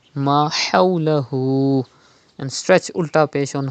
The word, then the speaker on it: ما حوله: Pronounce Ha from the middle part of your throat. Do not read Ma hawlahu, but Ma hawlahu.